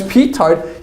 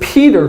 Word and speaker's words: petard: So Jonathan's creating all these petard units, but since he doesn't know how to pronounce petard, he calls it Peter, like the Family Guy episode.